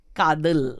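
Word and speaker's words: Kaathal: everybody is talking about, which you're going to pronounce the name because I will get Kadal. Kadal.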